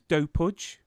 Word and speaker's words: Dopud: pronounced Serbian, so it's Dopud. Dopud is the right way to Dopud.